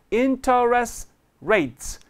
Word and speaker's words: interest: 두 개가 덩어리가 되면서 T is not pronounced. You can drop T. So interest rates.